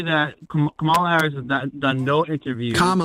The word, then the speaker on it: Kamala: from that's her name she has she has told people how to pronounce it she has corrected it multiple times it isn't hard trying to pronounce it Camala because people like that it sounds more ethnic and thinks it undermines her instead of just pronouncing it the way it sounds that's her name well